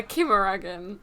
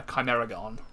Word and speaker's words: Chimeragon: good enough a chimichanga a kimaragan yeah that's hard i've been pronouncing it uh chimeragon i thought a shirt instead of a cha would be the the right thing to do no no because it's greek see just a greek yes we are so